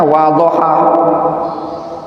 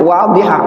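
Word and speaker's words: واضحة: Kenapa dibaca munasabatul hadithi lil mabhasi, bukan bacanya wadhaha. Ini bacanya apa? Wadhiha. Antum lihat, kalau ada tulisan kayak gitu itu bacanya wadhiha, bukan wadhaha.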